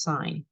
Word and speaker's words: sine: sine abbreviated this way it looks like sin but it's pronounced sine so the sine ratio